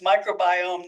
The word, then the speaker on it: microbiome: group at Oak's natural laboratory is studying the microbiome it's pronounced microbiome not microm which might be something you think